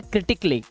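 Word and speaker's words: critically: इसे आप पढ़ते हैं क्रिटिकली। क्या पढ़ते हैं? क्रिटिकली। इसको आप आधा का और ला माने क्ली। इस तरह से क्ली।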